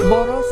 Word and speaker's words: Bodo: But correct pronunciation would be Boro, like Angboro.